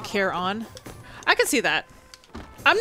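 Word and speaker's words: Charon: yeah she's ecstatic okay hades pronounces it care on i can see that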